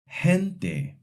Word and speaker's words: gente: The soft G sounds like a strong English H before the E and the I. For example, gente, girar.